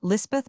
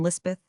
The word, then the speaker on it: Lispeth: The Kotgar chaplain christened her Elizabeth, and Lispeth is the hill or Pahari pronunciation.